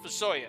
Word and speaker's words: FuSoYa: used to call them fuso yeah because they would capitalize the s and the y so it was fuso young it's pronounced for soya so i am